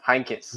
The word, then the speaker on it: Heynckes: And I believe it was, I forget how to say his name, Jupp Heynckes? Yeah, Heynckes.